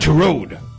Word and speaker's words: Turod: Turod. I rhymes with erode. Like I'm going to erode your face.